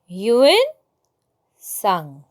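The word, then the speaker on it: Hiuen Tsang: इसको कैसे प्रोनाउंस करते हैं? ह्यूएन सांग. ह्यूएन सांग.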